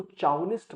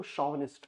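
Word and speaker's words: chauvinist: इसको चाउनिस्ट मत पढ़ना, इसको शॉविनिस्ट प्रोनाउंस कर।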